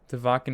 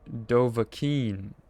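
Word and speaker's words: Dovahkiin: Dvakan is pronounced closer to Dovakin or Dovakin.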